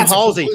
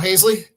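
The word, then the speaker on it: Haseley: man, and that's Adam Halsey. Adam Halsey is going to be a Hall of Fame center fielder, isn't he? Oh, Hazley? Hey, sure. That's how you say his name.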